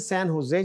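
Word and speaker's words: San Jose: में भी you know so this is सैन हुसे जैसे हमने पहले डिस्कस किया स्पेनिश में जो जे है ना वो इच बोला जाता है अच्छा जी आगे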